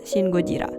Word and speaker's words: シン・ゴジラ: Bukan Godzilla yang film Amerika punya, tapi film Jepang dan bacanya Shin Gojira.